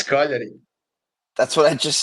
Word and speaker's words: Cagliari: Tell me one Italian team I mispronounced, Goran. Cagliari. Cagliari. What? That's how you pronounce it. No, it's Cagliari.